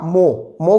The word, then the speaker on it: mho: Inverse मतलब उल्टा कर दो, उल्टा करो तो MHO, तो क्या बन गया? मोहो, है ना, मोहो या मोह कह दो। तो अर्थात विद्युत चालकता के दो मात्रक हो गए, ओम इनवर्स या मोह कह दो या मोह कह दो।